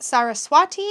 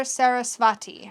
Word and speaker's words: Saraswati: our time is limited sarah swati pronounced saraswati or sarasvati i've heard it both ways i think i've said it both ways too sarah swachi doesn't limit